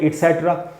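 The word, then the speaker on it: et cetera: Words इटसेट्रा, अब ये ईटीसी को बोलते हैं इटसेट्रा।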